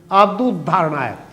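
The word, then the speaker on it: आपदुद्धारणाय: आपदोद्धारणाय नहीं, आपदोद्धारणाय एक साथ मिलाकर बोलेंगे तब तो शुद्ध हुआ, नहीं तो उद्धारणाय आमतौर से दोबारा बोला जाता है, दोबारा वो लग जाता है।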